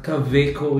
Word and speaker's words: Kaweco: So ito iyung unang dumating is from Caveco Kweco pero since it's German ah Caveco yung ano pronunciation nila.